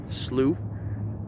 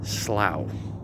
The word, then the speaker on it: slough: sometimes when people read slew some people think it's pronounced slow but rest assured that is not how it's pronounced you may think it is because it's spelled s-l-o-u-g-h but it's slew now a slew basically